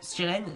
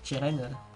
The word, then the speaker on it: Chiren: Mais dans la version française, ils ont rajouté un T parce qu'ils se sont dit, on doit faire comprendre que ça s'écrit Chiren, que ça se dit Chiren et pas Chiren.